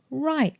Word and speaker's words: right: We have the IGHT pattern with a silent GH in right, light, flight, bright.